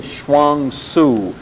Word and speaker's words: Chuang Tzu: The first is the Chinese thought as represented in Chuang Tzu.